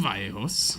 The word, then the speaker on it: Vallejos: I asked him before we started how to pronounce his last name so I didn't fuck it up, and I was about to again. So, Mr. Vallejos. Yes.